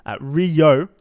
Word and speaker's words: Ryooo: Yeah, so just for a heads up, also playing in the single limb challenger bracket, Ryooo is the correct pronunciation, has gone 9-2 in